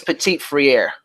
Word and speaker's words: Petit-Frere: Did I say his name right too? Nicholas Petit-Frere. Frere, okay, that was close.